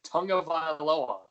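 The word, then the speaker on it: Tagovailoa: I think you were missing like a syllable. I think like you were shortening it, and like I looked at you and I'm like, that's not right.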